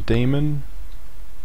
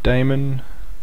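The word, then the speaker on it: daemon: We will first be covering some basic theory of chronab and how it is used with the cron demon or damon. I prefer to pronounce it as demon.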